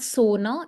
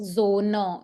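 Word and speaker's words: Sonne: Okay, so that is why it's not sona, it's z. Zona.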